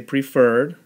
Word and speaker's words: preferred: the exceptions once again when the accented syllable shifts when the suffix is added so the word is normally prefer right but we're going to say and we're going to say preferred so you could check